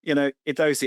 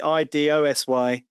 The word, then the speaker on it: IDOSY: Yeah, so, we're not fussy about how people pronounce it. IDOSY, IDOSY.